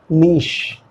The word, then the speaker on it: niche: नीश। Choose your निश correctly, choose your निश correctly, ठीक है? डबल ई मैंने यूज किया क्योंकि यहाँ पे स्ट्रेच है, नीश।